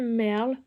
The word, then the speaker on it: maërl: Et ben non, ce que vous voyez en breton, on appelle ça du merle, ça s'écrit comme ça.